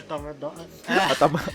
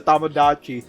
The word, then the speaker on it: Tamagotchi: Well, I'm just saying that I never had a Tomadama. What? A Tamadamada? Tomadama because, yeah, that's the point. Since I don't own one. I don't know how to pronounce Yeah, it's a Tamagotchi.